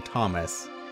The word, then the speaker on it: Thomas: Also, I guess his name might be pronounced Thoma. But, like, I knew someone who had a name. I mean, I knew someone who was French and had the name Thomas, but it was pronounced Thoma.